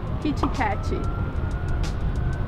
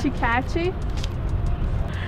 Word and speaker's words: Kit Kat: Kichikachi.